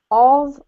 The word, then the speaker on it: of: between of and off of off off so this one here if you imagine that it's spelt like this o v that's how it's pronounced okay of oh yeah